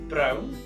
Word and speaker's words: brown: Underneath that is brown. Brown. Spelt the same way as it is in English, pronounced very differently.